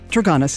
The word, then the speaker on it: Traganas: Traganas is correct.